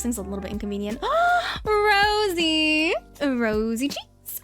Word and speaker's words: Rosie: Don't call her Rossi. I'm telling you, don't fucking call her Rossi. It's not Rossi. It's Rosie.